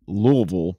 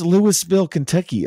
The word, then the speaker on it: Louisville: um in Kentucky the city of Louisville it's pronounced Louisville but it's spelled like Lewisville and so you have people come in from out of town they go where's Lewisville Kentucky I'm like Lewisville Kentucky Oh you mean Louisville